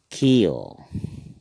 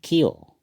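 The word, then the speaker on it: ক্ষ: जैसे चिय, हिंदी में चिय कहते हैं, असमिया में हम इसको कहेंगे खियो। उच्चारण होगा खियो, खियो।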